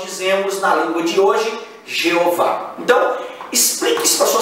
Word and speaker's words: Jeová: Como a a latinização do nome, nós dizemos Jehová. Então, a pronúncia portuguesa é Jeová.